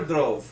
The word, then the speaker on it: Dhruv: Dhruv or Dhruv?